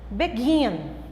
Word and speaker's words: begin: Begin, begin, sílaba mais forte, é a sílaba tônica.